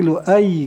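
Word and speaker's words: لؤي: Ini bukan bidomil mim tapi bidomil lam, lu gitu kan. Wa fathahil hamzah dan patah hamzah, lu ai gitu kan. Wa syaddil ya dan di tasdidkan ya-nya itu berarti lu ai gitu bacanya gitu.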